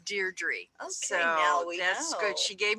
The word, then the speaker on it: Deirdre: better from now on I always said it D troubles yeah is Deirdre oh so good she